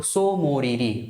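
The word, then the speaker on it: Tso Moriri: पढ़ते हैं है ना टी हम यहां पर एक तरह से साइलेंट मारते है तो सो मोरीरी और सो सोकर ये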